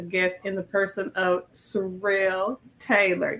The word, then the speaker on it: Surrell: in the person of Sorrell Taylor did I pronounce that right Sorel yes man we did you